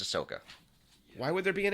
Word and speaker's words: Ahsoka: watched it Ahsoka no isn't there an H in there yeah but it's pronounced Ahsoka why would there be